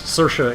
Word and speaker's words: Saoirse: Is that how you say it, Saoirse? Yes, Saoirse is the Gaelic word for freedom.